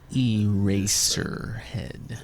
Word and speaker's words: Eraserhead: Eraserhead.